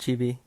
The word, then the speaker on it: CHBXI: It gets confusing since it has an X like out of nowhere, but yeah, it's pronounced Chibi.